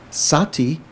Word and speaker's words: sati: be on sati patana sati is the pali spelling pronunciation of smirti why don't they have smear t because generally if you find in in poly if you have two different consonants conjunct to one another they simplify it here there's this um